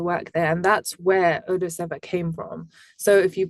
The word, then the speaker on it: Odaseva: So I hope that clears things up a little bit better for everyone, and it's pronounced Odaseva.